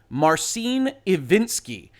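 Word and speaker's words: Marcin Iwiński: my name is and i believe i heard him pronounce it marcin ivinsky and i know there are a number of you that will come into my comments and explain how i got that wrong but i believe that's how he pronounced it and he's the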